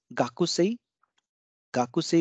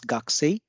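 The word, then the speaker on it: 学生: common one Galaxy Galaxy this is gaku say becomes gagsei because and these two are unvoiced consonants and O is appearing in between them so remember that only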